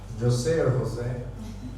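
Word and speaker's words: José: nutshell uh Jose is Jose Jose which is pronunciation in Spanish language I'm a Ecuador across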